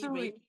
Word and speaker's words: Usui: And she's a Yushi, and if am I mispronouncing that, please forgive me. Usui.